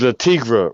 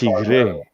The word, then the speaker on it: Le Tigre: You gotta say La Tigre because you know Chuck is bougie, so you gotta pronounce the French. Le Tigre. Le Tigre. You gotta roll the R too.